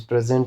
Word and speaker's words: present: Present is a verb, but when this present is used as a noun, then the stress will be on the first syllable, because this present also refers to a